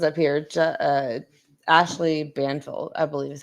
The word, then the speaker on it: Ashley Banfield: Well, it says up here, Ashley Banfield, I believe is how you pronounce it.